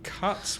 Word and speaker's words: cut: So the vowel sound is a, as in up or bus.